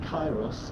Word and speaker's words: Kairos: Memory reconfiguration system Kairos activated. Awaiting instruction. What the fuck? Command, universal memory alteration. Target area, Catesis Hyperborea. Ah, so you do pronounce the K.